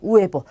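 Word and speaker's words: huevo: 당연히 얘가 없다고 생각을 하고 그 다음부터 읽으시면 돼요. 우에보, 달걀입니다. 달걀. 자, 이 단어도 마찬가지입니다. 아체가 없다고 생각을 하고 읽으시면 돼요. 에르마노입니다. 에르마노. 남자 형제를 뜻해요. 에르마노. 자, 그래서 아체는 묵음이고 절대 발음하지 않습니다.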